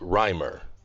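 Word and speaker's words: Reimer: your family name yes my family name is rimer i don't want to make a mistake could you please spell that sure that's r e i m e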